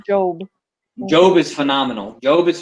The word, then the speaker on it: Job: job is a scripture in the bible it's pronounced job job is phenomenal job is phenomenal most people